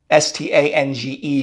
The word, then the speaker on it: Stange: Remember that in Cologne with the Kolsch, they use a glass called a Stange. And it looks like it's spelled Stang, S-T-A-N-G-E, but I was told the proper pronunciation is Stange, or at least how they say it.